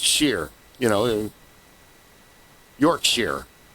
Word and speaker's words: shire: It's sheer. It's pronounced shear.